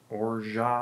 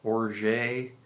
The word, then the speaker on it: orgeat: i call it organ some people call it orja or orgay i'm just going to call it orjat from here on and